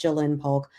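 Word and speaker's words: Ja'Lynn Polk: Those apostrophes really get me because it should be pronounced Jaylen Polk.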